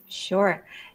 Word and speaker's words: Dyagileva: your name so your last name would you pronounce that for me surea all right see I would have I would